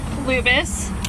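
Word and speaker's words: Lubas: In just a moment, I'm going to introduce you to Brigadier General John Lubis. That's spelled J O H N Lubis.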